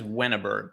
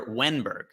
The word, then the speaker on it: Ehrenberg: Sorry, I'm adding an extra vowel in there. Alexander Ehrenberg.